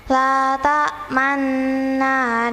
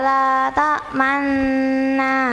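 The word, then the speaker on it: لا تأمنا: Ini ismam Bapak Ibu, yang membacanya harus mencucu. La ta'manna gitu. Kalau nggak mencucu, menurut ilmu tajwid nggak boleh.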